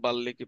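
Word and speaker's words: বাল্মীকি: বর্ণফুল এরপর নাটক হচ্ছে বাল্মিকি প্রতিভা উচ্চারণটা একচুয়ালি বাল্লী হবে ঠিক আছে কারণ ল সাথে ম আছে তার মানে ডাবল উচ্চারণ উচ্চারণ যখন পড়াবো তখন এটা শিখবা বাল্লিকি প্রতিভা আপাতত বাল্মিকি পড়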